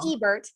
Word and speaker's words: Ebert: spelled kind of weird and then Ebert like Siskel and Ebert um so I I